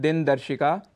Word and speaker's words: दिनदर्शिका: दिन दर्शिका अर्थात कैलेंडर जिसका उच्चारण हम करते हैं दिनदर्शिका इसका शुद्ध उच्चारण है दिनदर्शिका और गणपति महोत्सव जो